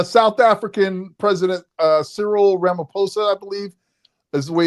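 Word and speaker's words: Ramaphosa: where the uh South African president uh Sirill Ramaposa I believe is the way is pronounced uh was in the White House supposedly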